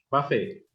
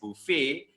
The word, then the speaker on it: buffet: How do we pronounce it? Buffet.